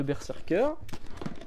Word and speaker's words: Berserker: une magnifique boîte de berserker quand on ouvre la boîte qu'y a-t-il dedans il y a ceci qu'est-ce que ça se prononce bien berserker c'est précisé à l'intérieur du bouquin ça se prononce Berserk donc une petite boîte